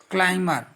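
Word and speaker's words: climber: क्या कहते हैं, क्लाइंबर, बी साइलेंट है, बिकॉज इट बेस्ड, इट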